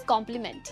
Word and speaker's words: complement: अगले दो वर्ड्स हैं कॉम्प्लीमेंट वर्सेस कॉम्प्लीमेंट। यहाँ पर भी स्पेलिंग का डिफरेंस है एंड प्रोनाउंसिएशन बिल्कुल सेम है।